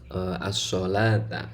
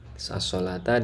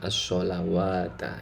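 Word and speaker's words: الصلاة: As-sholata ada wawunya ya. Padahal tidak dibaca wawu ya, artinya wawunya tidak dibaca. Nah ini tetap nanti harus dibaca panjang sesuai cara bacanya, yaitu as-sholata ya, bukan as-sholawata ya.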